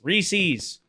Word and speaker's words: Reese's: Reese's, not however you tried to get me to say it. Reese's is the correct way to say that.